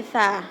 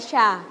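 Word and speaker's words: ث: Tadi yang salah bagian sa-nya dibaca sya. Nah, oke, kita belajar dulu. Sa. Nah, kan sa-nya ada yang tebal bacanya. Nggak boleh tebal, dia tipis aja. Sa biasa. Kayak kita contohnya manggil namanya Salman. Nah kan Salman biasa, Salman gitu. Bukan Shalman, bukan gitu kan.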